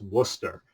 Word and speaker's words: Worcester: wonder how that's pronounced that's pronounced Worcester or as Vince Neil